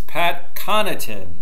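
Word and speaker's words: Pat Connaughton: ready here we go it's pat connorton as i believe how they say it on television even though when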